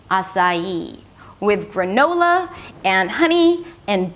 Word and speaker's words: açaí: And when we connect the 'sa' with the 'ee' we get a little bit of a 'y' sound - açaí, açaí.